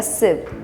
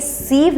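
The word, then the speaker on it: sieve: Mind like अ सिव. इसका मतलब क्या है? सिव यहाँ पे क्या, ये सीव नहीं है, इसका प्रोनाउंसिएशन है सिव.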